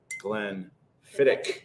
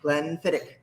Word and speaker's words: Glenfiddich: knows it uh but say it with us now glenn fittick glenn fittick yeah at the end yeah so like if the in your mouth when you roll your r sits up here it's like right down here in the middle of your throat and you have to add that yes specifically the klingons